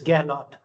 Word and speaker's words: Gahlowt: It's Galot. Gallot. Galot. Galot. Yes.